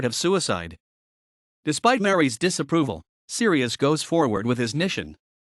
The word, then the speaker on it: Sirius: Focusing on the famous cosmonaut Sirius Amory, pronounced Syrus Amory, the story describes Amory's